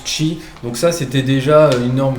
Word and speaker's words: Qi: jeane la norme chimici qui s'écrit qi donc qui met qui se prononce chi donc ça c'était déjà